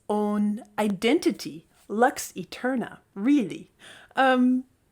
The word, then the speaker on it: Lux Aeterna: it its own identity Lux Eterna really um why do I pronounce it Luke's Eterna well of course because it's Latin and as a classical